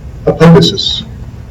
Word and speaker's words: apoptosis: When I was in graduate school, we didn't quite know how to pronounce the term. He pronounced it apoptosis.